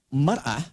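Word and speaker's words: مرأة: Ya, kalimatnya sama, cuma cara bacanya beda. Al-mar'atu kal mir'ah. Yang satu pakai fathah, yang satu pakai kasrah.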